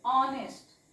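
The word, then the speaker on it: honest: हा उच्चार असणार आहे ह नाही वाचायचे ऑनेस्ट इट्स ऑनेस्ट याला वाचायचंय ऑनेस्ट ओके तशाच पद्धतीने बघा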